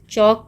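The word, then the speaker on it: chalk: चौक powder C एच ए एल के चॉक एल is silent चॉक powder यह भी नहीं घुलता है पानी में।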